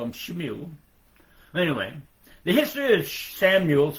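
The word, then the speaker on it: Shmuel: And now I'm going to every once in a while I'll pronounce it the way it's written in this Hebrew Bibles. S H M U L. Shimu. And in English we call it Samuel.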